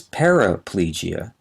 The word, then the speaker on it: paraplegia: the other is not the next term is paraplegia p a r a p l e g i a paraplegia means both legs and the lower body